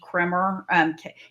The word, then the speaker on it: Kremer: It's Amy Kremer. It's pronounced Kramer, but it's spelled like Kremer, Kremer.